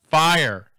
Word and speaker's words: Fyre: Fire. You can see fire. It here, folks. It's spelled F-Y.